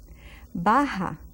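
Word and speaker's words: baja: Alta is bah Baho Baha see that J again B Baha it's like an H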